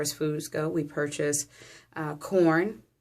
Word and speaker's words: Quorn: So we purchase, as far as foods go, we purchase corn, which is spelled Quorn.